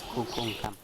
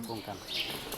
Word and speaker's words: Kukulcán: ¿Qué significa Kukulcán? ¿Sabes? Vulcán. ¿Sí? También es otro nombre mal pronunciado. El Dam- nombre es Kukulcán. Cucuncam. Kukulcán, que significaría serpiente emplumada.